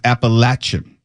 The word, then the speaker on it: Appalachian: According to this, the correct pronunciation is Appalachian.